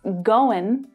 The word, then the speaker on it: going: And finally, you may not hear a native speaker pronounce the final G here in going.